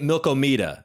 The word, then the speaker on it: Milkomeda: Developers that's awesome so I heard you say milkomeda is that how is that the pronunciation yeah so the original uh way we